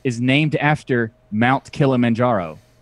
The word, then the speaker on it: Kilimanjaro: is named after Mount Kilimanjaro it's not the it's a Swahili mountain name it's not it's not a Spanish Kilimanjaro that's pronounced chill a man-whore oh thank you to